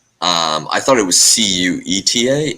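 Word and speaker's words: Ceuta: enclaves yeah uh um cueta is is one of them uh I I mean I know how it's spelled but I didn't know how to spell said until you just said it I would have said like quetta or something yeah oh oh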